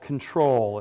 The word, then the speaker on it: CTRL: music before i conclude this is called control it's spelled ctrl just like the button on your computer and the name of